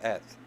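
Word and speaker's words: את: And it's pronounced Eth.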